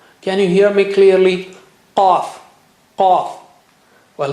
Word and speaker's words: qaf: Let's take the third letter, which is qaf. Qaf, qaf, qaf. Can you hear me clearly? Qaf, qaf.